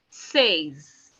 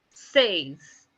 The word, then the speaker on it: seize: 16 is written down as SEIZE, which is being pronounced as says, says.